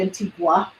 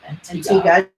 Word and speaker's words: Antigua: And we say, Americans say Antigua. I make it very nice. No gua. Antigua. Just, it's no gua.